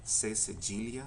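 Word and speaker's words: cedilha: And I think we've got one more to show you, and that's the cedilla, or the cedilla in Portuguese.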